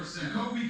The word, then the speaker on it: Jacoby: Jacoby comes in.